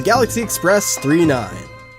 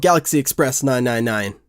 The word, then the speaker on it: Galaxy Express 999: yes welcome aboard the galaxy Express 3 9 I wanted to love galaxy Express 999 wait say it's pronounced 3 9 alright well galaxy Express